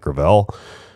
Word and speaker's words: Gravel: By the way, the hashtag that they came up with is I thought it was Gravel Gang, but apparently it's pronounced Gravel.